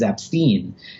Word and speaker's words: Epstein: The correct way to say it is Ep-stine.